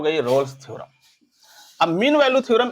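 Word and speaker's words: Rolle: कुछ लोग इसको रोलेस थ्योरम पढ़ते हैं, बट मैं रोल्स ही पढ़ता हूँ इसको, और करेक्ट प्रोनाउंसिएशन इसका रोल ही है। ठीक है, कुछ लोग स्पेलिंग के साथ इसको रोले कह देते हैं, दैट्स नॉट करेक्ट नेम। ठीक है, correct name is रोल, रोल रोल रोल।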